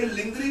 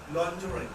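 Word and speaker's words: lingerie: लिंगरी इज a wrong pronunciation. Right pronunciation क्या होगा? देखो राइट लिखता हूं, लॉन्जरी। देखो इसका सही प्रोनाउंसिएशन ये है, लॉन्जरी।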